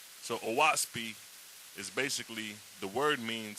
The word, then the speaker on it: Oahspe: use today but um the word oasp is broken down into three syllables o and the O represents the sky and the ah which is the ah represents the Earth and SP represents or means spirit so aasi is basically